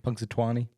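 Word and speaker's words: Punxsutawney: How do you even say Punksatani? It's a town in Pennsylvania. Punksatan. I'm saying it wrong. Punksatani. Punksatuani. You don't have to add the twine.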